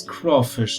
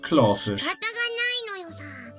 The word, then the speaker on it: crawfish: I already told you it's crawfish not claw fish is that the